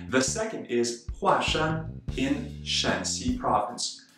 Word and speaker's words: 华山: as someone's last name, it is read as a fourth tone, Hua. That's right, yet another of those duoyinzi, or polyphonic characters. So we say Huashan, Huashan.